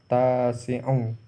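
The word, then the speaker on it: التاسعُ: 9 dalam bahasa Arab adalah tis'atun, tis'atu. Tis'atu. Tapi kalau menyatakan urutan maka bacanya adalah tasi'u.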